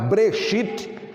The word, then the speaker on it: Bereshit: no rolo e como breshit na verdade era assim pronunciado breshit porque as vogais só passaram a existir no idioma hebraico a partir do século 6º e aí e com